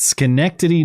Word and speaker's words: Schenectady: Schenectady, New York.